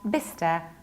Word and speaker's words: Bicester: In England, we have another tricky word which is not pronounced like Bicester or Bicester. We pronounce it like Bister because we need to skip CE.